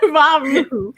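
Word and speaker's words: Ra Uru Hu: And I can tell you that I did I think there's the founder, I can't pronounce his name. Yes. Ra Uruhu. Okay, Ra Uruhu.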